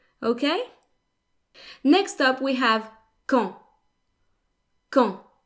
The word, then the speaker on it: quand: Next up, we have quand. Quand. The D is silent.